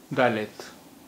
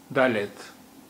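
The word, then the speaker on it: ד: चौथा अक्षर है दालेत, दालेत, दालेत। इसकी आवाज दा, दा की तरह होती है, दालेत।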